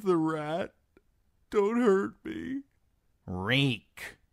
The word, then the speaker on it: Reek: My name is Reek. It rhymes with leak.